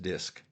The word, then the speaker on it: DiSC: First, I would like you to look for an online version of the DISC test, which is pronounced DISC.